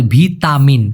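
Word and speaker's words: vitamin: ভিষাই বলা হয়ে থাকে ভিটামিনকে ওরা বলে ভিতামিন কারণ ট টাকে ওরা ত উচ্চারণ করে ভারসি মানে হচ্ছে সংস্করণ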